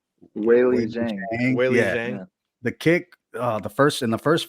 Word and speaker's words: Weili Zhang: Weili Zhang.